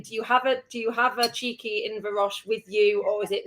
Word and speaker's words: Inverroche: Is Inverroche? Inverroche, that's correct. How many variations of the spelling, the pronunciation of this beautiful shine?